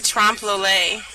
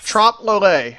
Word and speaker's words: Trompe l'oeil: I just say Trompe l'oeil. Trompe l'oeil.